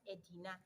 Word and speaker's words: Edina: Again, the locals could not pronounce Aldeia, so they pronounced it as Edina.